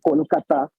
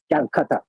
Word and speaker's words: Kolkata: The Ganga River in Kolkata, which is the local pronunciation of it, the Bangla pronunciation of it, and now it is called Kolkata. But what Britishers used to call Calcutta.